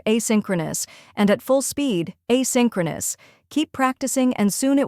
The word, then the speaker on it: asynchronous: First, we have I, where it sounds like the A in say, then sin, where it sounds like sin in sinner, next crow, which rhymes with row, finally nus, where nus sounds like nus in bonus.